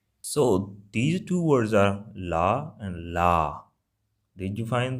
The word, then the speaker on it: ਲਾ: So these two words are la and la. Did you find the difference or not? La, la. So basically, one is just la sound and another is a little bit h sound at the end.